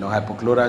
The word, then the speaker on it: hypochlorite: State, and produce chloroform, hypochlorite solution. That's the correct pronunciation, hypochlorite solution, which is safer than chlorine in water treatment.